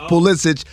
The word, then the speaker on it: Pulisic: i don't know first of all his name's pulisic i don't care how he wants it pronounced it's pulisic we know where your family's from we know